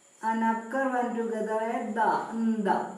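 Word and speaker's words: ന്ദ: Nda. Pronounce it as nda.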